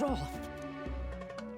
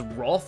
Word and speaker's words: wrath: Also, pronouncing it as Roth and not Wrath is kind of rare these days. It's how I was always taught to pronounce it as a kid, and I quickly stopped when the anime said Polyrath and not Polyroth.